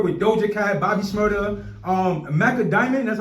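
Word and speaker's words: Macka Diamond: You know, you work with Doja Cat, Bobby Shmurda, Macca Diamond. That's how you pronounce her name? Yes, Macca Diamond.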